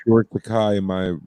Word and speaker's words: Takei: It is because he often says my name rhymes with gay. Or it's George Takei and my name rhymes with what I like, which is guy.